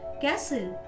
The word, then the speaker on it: castle: T is not pronounced in these words. या शब्दांमध्ये T चा उच्चार केला जात नाही. Butcher, castle, Christmas, fashion, listen, match, often, which, soften, watch.